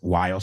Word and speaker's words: while: Otra vez, si lo piensas, es while sin la H. La H es muda, pues en un mundo lógico que no siempre es el inglés, se pronuncian igual.